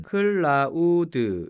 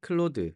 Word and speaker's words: Claude: 저 는 " 클라우드 " 라고 발음 하는 줄 알았는데 , 다들 " 클로드 " 라고 부르더라고 요 .